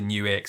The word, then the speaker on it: NUX: brought to you by guitar world and obviously new x and yes that is how you pronounce it let's go back to basics for